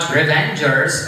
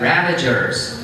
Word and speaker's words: Ravagers: I could accept your point, Mahmoud, if you said Ravagers. They were not Revengers, but Ravagers. They are two different words. That's why I talked to you guys to change your name or to spell it correctly, to say it correctly.